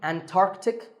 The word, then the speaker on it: Antarctic: Similarly, Antarctic and Antarctica.